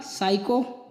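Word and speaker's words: psycho: एन तथा एस के पहले आया हुआ पी प्राय साइलेंट होता है। एन तथा एस से पहले आया हुआ पी। तो निमोनिया, साइको, 100।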